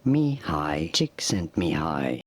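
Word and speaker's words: Csikszentmihalyi: and and maybe overlay someone's saying his name Mei chick sent me high now you've probably seen Steven Cotler and other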